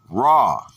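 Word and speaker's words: רע: The word is ra, pronounced ra, from 7489.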